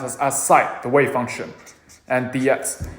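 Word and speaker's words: ψ: sine function a side uh function this is pronounced as a site the wave function and dx so after we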